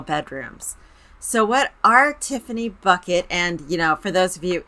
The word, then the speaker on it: Bucket: So what our Tiffany Bucket, and for those of you into British TV, her aunt absolutely pronounced it bouquet.